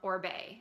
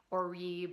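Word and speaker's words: Oribe: and told us that it is in fact pronounced or Bey so hope that helps somebody who was confused on the pronunciation I know a lot of people will say or rebar or eBay or something like that anyway not the point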